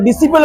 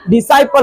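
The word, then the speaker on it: disciple: आगे इसको क्या पढ़ेंगे, इसको डिसिपल बहुत सारा पढ़ते हैं, डिसिपल, डिसिपल क्या होता है, डिसाइपल होता है, क्या पढ़ देंगे, डिसाइपल या साइलेंट, डिसाइपल, चेला शिष्य।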